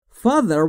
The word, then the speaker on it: father: Father will allow me to buy that car. Father یعنی پدر. تلفظ TH رو دقت داشته باشید، زبونتون زیر نیش دندون بالا سعی میکنید بگید ز.